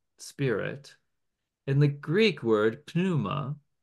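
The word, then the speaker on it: pneuma: and W and spirit in the Greek word puma pronounce the P Puma is also the word for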